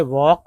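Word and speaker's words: walk: And began to वॉक, एल के में L silent है, वॉक south toward Madison Square, he was going home, although home was only a sit in a park।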